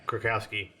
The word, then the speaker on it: Krakowski: Is that how you say her name? Yeah, Krakowski. 30 Rock.